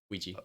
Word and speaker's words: Ouija: OUI and you pretend you're French, oui, G, Ouija.